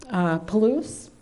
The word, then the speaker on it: Palouse: They're photographs of, I believe it's pronounced Palouse or Palusi. Palouse, thank you.